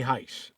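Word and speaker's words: Hice: The guy that they're talking about is Ray Heis. And his last name is spelled H I C E.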